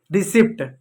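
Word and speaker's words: receipt: रिसीप्ट गलत होता है। रिसीप्ट होता है। रिसीप्ट होता है। रिसीप्ट नहीं रिसीप्ट होता है। पी साइलेंट होता है।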